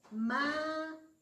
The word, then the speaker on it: mayo: La sílaba tónica es mayo. Ma. Sílaba tónica.